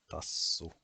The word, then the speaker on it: tassu: as in kallo, and the double S is tassu, and the double K